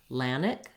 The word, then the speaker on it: Atlantic: and then same thing where we might omit that tea and say just more of a lannick atlantic rather than atlantic again this tea is optional i would say you can say atlantic and i do hear native speakers say that quite a bit but you don't want this tea not atlantic you can also do atlantic atlantic with no team so when you can